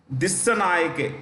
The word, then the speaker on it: Dissanayake: Dissanayake, DISSANAYAKE, Dissanayake.